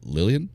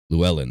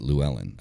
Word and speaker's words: Llewellyn: get published through uh was it lillian lulin lulin how's it pronounced it's often down the tip where matt's matt's published through them llewellyn that's it lou ellen i would like to